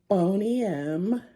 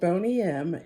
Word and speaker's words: Boney M: This is my new friend Bonym. That's spelled B O N E Y and then the letter M.